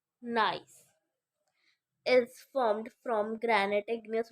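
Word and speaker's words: gneiss: से बने हुए हैं गस गस pronounce nice is form from granite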